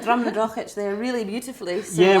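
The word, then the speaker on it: Drumnadrochit: But yeah, especially with the German market, a lot of English pronunciations, even with the Gaelic one, is very different. Although we have. You said Drumnadrochich there really beautifully.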